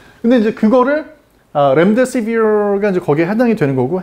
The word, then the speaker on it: 렘데시비르: 이 렘데시비르라고 발음을 하는 것 때문에 참 논란이 많은데 렘데시비르가 아니라 영어 발음은 렘데시비어입니다.